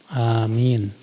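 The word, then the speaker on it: آمين: saat i'tidal dan istiftah pengucapan Amin yang benar adalah Amin a-nya dua harakat A minnya itu bisa sampai en harakat karena A itu mad asli kalau min itu Mad Arid l sukun Iya Mad asli dua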